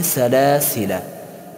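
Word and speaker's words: سلاسلا: آت هم ذر شده و همن قلمه سلاسله سلاسله در سوره دهر آه ار ذر شده درمه هم حرف الف در حالت وسن تلفظ نم شود سلاسله نمم سلاسله نخر سلاسله اما در حالت وقف تلفظ شود سلاسله سلاسله در حالت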